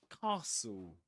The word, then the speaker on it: castle: Pretend it's spelled like this or like this. Let me see if I can. There we go. Yeah. The trick is to pretend that it's spelled like this. Castle.